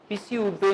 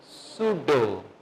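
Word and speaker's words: pseudo: ठीक है इसी तरह पसी उडो नहीं पढ़ेंगे इसको पढ़ेंगे सुडो ई की साउंड भी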